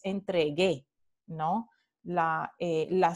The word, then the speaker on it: entregue: entonces g la aquí sirve para decir que no es entre g es entregue no la la sílaba